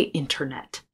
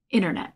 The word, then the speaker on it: internet: He says, sent it, because the T in American English after an N sometimes disappears. Sometimes we just drop it, like in the word internet. I often don't say internet. I say internet, or the center of something.